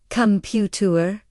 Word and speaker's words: computer: In English we say computer. The beat or stress is only on pew. The calm and tur sounds are very small and fast. Sometimes you almost do not hear them.